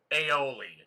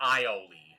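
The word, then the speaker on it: aioli: I'm probably the last person that should correct another person's pronunciation of anything, but it's aoli, not ioli.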